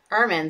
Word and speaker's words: Ermine: um it looks several places and it said Furman so like Herman without an age so this is the travels of Airmen the world tour so this is a really